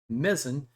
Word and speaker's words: Mezen: box cover of mzin I think it's pronounced mezan although I've heard Hobby World the original publisher pronounced it a different way so I'm I'm going to go with a mezan and it's got a